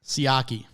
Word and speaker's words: Siaki: What do we determine it's pronounced again? Siaki.